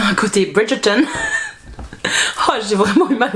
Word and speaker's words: Bridgerton: a un petit côté Bridgerton je vais le prononcer à l'anglaise parce que ça m'a fait mal aux oreilles il y a un côté Bridgeton oh j'ai vraiment eu